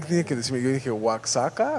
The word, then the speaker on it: Oaxaca: Pero No, el otro en es nuestra región Oaxaca. se lee Oaxaca. Oaxaca. Pero es Oaxaca. No, es Oaxaca. Ajá. Y alguien tiene que decirme, yo dije, ¿Oaxaca?